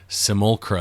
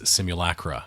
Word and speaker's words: Simulacra: book it is the name of the book is not as we were saying it is not simulcra and simulation it is simulacra and simulation so so the point